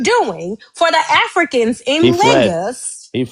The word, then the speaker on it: Lagos: Okay, it's not pronounced Legos. It's Lagos.